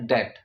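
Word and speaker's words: debt: अब डेट भी नहीं होगा क्योंकि डेट होता है THAT, डेट। ठीक है, डेथ तो बिल्कुल भी नहीं होगा क्योंकि वो मरना होता है। ठीक है, तो सही प्रोनाउंसिएशन है डेट।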